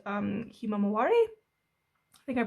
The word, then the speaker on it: himawari: himself and other artists it was called um himawari i think i'm pronouncing that right yeah there we go which